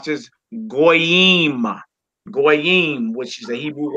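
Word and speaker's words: גוי: We would pronounce that goy. The English word, the Hebrew word that means in English Gentile or stranger.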